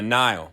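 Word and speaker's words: Nihil: of this era are the Nile pronounced just like the famous river in Egypt described a space Vikings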